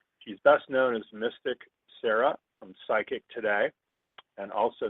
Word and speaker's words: Saira: So today's special guest is Saira. She is, and it's pronounced Sarah, even though it's spelled S-A-I-R-A.